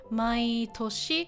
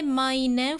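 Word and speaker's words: 毎年: So my toshi. Again, we don't say mainen for this one, even though it's a compound.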